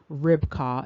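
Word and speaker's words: Ribqah: And here you see another entry with respect to Rebekka at 7259, and the name is pronounced Ribkah in this particular instance, but again, still identified as the wife of Isaac.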